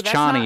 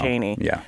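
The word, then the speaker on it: Chani: long time I mean given how closely like Herbert wanted to use Arabic it definitely makes more sense as chny than Cheney anyway neither here nor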